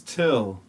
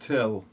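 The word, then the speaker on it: Thgil: so what's your name my name is till it's spelled t-h-g-i-l but it's pronounced till come on what kind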